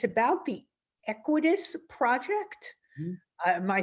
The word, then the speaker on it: Equitas: And it's about the Equitas project.